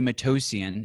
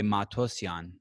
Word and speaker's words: Matossian: if you if you're there's two ways to pronounce it if you're not armenian you say matosian if you're armenian you say matosian and so if you're